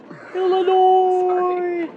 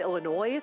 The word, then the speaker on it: Illinois: Everyone from Illinois was like, you don't pronounce the S.